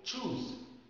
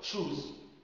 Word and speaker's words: choose: عايز تقول choose، لو انت مدرس مثلا بتقول للطلاب choose the correct answer، choose the correct answer يعني اختر الإجابة الصحيحة. تخيل لو انت قلت shoes معناها الجزمة عزكم الله او النعول يعني هي الإجابة الصحيحة.